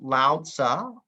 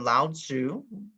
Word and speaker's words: Lao Tzu: to meet another individual sometimes pronounced lao tza or lao tzu whichever one you want to pick you can just go with that under different dialects of chinese and the language has changed over time not entirely